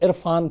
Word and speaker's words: Irrfan: असल में इरफान को अपना ये जो प्रोनाउंसिएशन है जो निकलता है वो ज़्यादा पसंद था, तो उसी को उस पर दबाव डालने के लिए RR लगाया, तो इरफान।